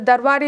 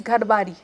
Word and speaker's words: Darbari: The darbari is going on, and my pronunciation was, it is gharbari.